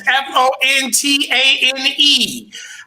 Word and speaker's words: Fontane: That's Fontane. Akee, Akee. For those illiterate folks out there, that's how you spell it.